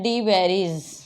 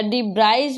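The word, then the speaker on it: de Vries: और दूसरा आता है डी वेरीज या डी ब्राइज भी कई लोग इनको प्रोनाउंशिएट करते हैं, बिकॉज इनकी स्पेलिंग इस तरह से है डी व्राइज, BRIES, है ना. और कई लोग इसको प्रोनाउंशिएट करते हैं डी वेरीज.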